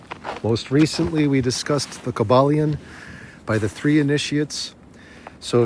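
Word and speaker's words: Kybalion: you to look into the cabalian that is spelled KY b a l i o n so Kaiba lion cabal by the three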